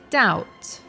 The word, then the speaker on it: doubt: you hear is there the other one is doubt which has a silent B so it's pronounced doubt if you want to